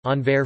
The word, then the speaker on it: Anvers: Antwerp, listen, Dutch, Antwerpen, Entarpie, N, listen, French, Anver, French pronunciation, V, S, is a city in Belgium, and is the capital of Antwerp province in Flanders.